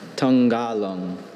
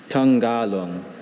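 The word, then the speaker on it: tangalung: Tanggalang. May I have the origin, please? This word is from Malay. Tanggalang. Are there any alternative pronunciations, please? Just Tanggalang.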